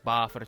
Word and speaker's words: Buffer: Баффер пишется через U. Ну, как произносится buffer через A.